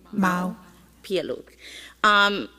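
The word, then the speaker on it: Mau Piailug: I know it's Pialuk, the last, but I don't know how to pronounce his Papa. How do you say it? Mau. Pialuk.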